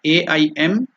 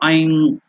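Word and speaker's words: ऐं: So we have written the pronunciation, it is not AIM, it should be IM, I elongated M, the nasal one. So Aing. So that is the pronunciation, correct pronunciation, Aing or Aim. You should not tell aim.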